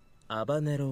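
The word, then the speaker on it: habanero: ねもアバロてアバロはスインですスペインでは H の音を発音しませんだからバネロがアバロになるですハバネロの肉詰め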